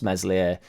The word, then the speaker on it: Meslier: be going back across meslier silent s sorry mate in which